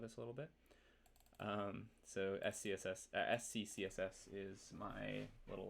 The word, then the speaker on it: SCCSS: So SCCSS is my little like pithy naming convention for how I like to write CSS at a good scale. So it just kind of is pronounced like success.